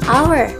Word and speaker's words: hour: Coba dilihat setelah N ada huruf H, yaitu huruf konsonan. Tetapi karena yang diucapkan itu pengucapan bukan ejaan, jadi an honest school, an hour itu termasuk N bukan a honest school, a hour.